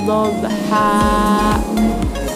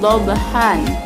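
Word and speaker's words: ضَبْحًا: Contohnya wal 'adiyati dhabha, tidak dibaca dhabhan.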